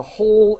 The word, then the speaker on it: whole: and in this word the in the entire economy the whole economy the w is silent all right great and